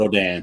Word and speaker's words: Rodin: And I always say his name wrong, but it's Rodin, I believe is how you pronounce it. Rodin.